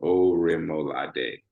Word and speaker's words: Orimolade: I know the last name is harder, but Orimolade is how you say the last name.